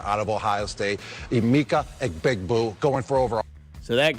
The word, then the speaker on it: Egbuka: of Ohio State, Emeka Egbuka, going for over. So that guy, Abuka is how you say his name, Puka or JSN.